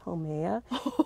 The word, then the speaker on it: Haumea: planet there called Haumea, and I pronounced it Haumea. He goes, and he's a little kindergarten, actually it's Haumea, and it's orbits outside